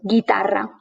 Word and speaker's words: guitarra: help you remember that the combination GUE or GUI has the U in between, which is not pronounced, and the G is a hard G. So, guitarra.